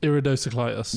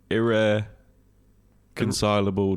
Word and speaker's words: irreconcilable: Iridociclitis. No, it's irreconcilable differences.